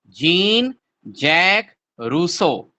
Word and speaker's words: Jean-Jacques Rousseau: Spelling कुछ भी हो, it should be pronounced as Jean-Jacques Rousseau.